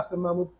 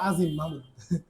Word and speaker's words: আসেম মাহমুদ: আমার নাম উল্টাপাল্টা উচ্চারণ করে, আমার নাম হচ্ছে আসেম মাহমুদ।